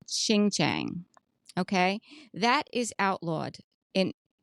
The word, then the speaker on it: Xinjiang: So Shein and Temu, they both use clothing that is manufactured in a part of China called Xinjiang.